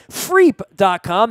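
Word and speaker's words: Freep.com: the Detroit Free Press they pronounced it freak calm that's free p FR ee p calm and you can find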